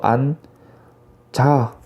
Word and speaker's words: 앉아: 그렇기 때문에 니은, 지읒 중에서 뒤에 있는 지읒이 그대로 이어집니다. 그렇게 되면 아 밑에 니은만 오고요. 지읒이 뒤로 넘어가서 안자가 됩니다. 앉아있던 현지가 다가와 자기와 닮은입니다.